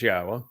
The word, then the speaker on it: Yahweh: Yes, it says Yahweh, which is the proper pronunciation of Yahweh's name, our Eloha, God, as directed by his Torah teaching regarding his high existence and our shalom restoration.